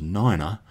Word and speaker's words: nine: The pronunciation of the numbers 3, 5 and 9 sounds a little bit weird. 3 is tree, and 5 is fife, and 9 is niner.